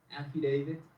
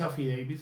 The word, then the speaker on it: affidavit: Affidavit, acuérdense de la palabra David, ¿sí? Y eso les va a ayudar con la pronunciación de este.